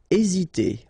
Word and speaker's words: hésiter: Hésiter. Okay, remember that h doesn't exist, so we don't pronounce it, and the first thing you will pronounce is this vowel here, e accent aigu, e.